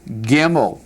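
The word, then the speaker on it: גימל: Gimel. Pronounce it.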